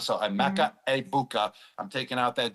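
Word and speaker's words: Egbuka: I'm going to go with I've been saying Ebuka the whole time I was on Fox for the first two weeks, but now everyone told me the G is silent. So, Amecha. Abuka.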